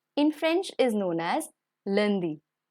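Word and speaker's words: lundi: get started monday in french is known as landi landi tuesday is mardi mardi wednesday is may friday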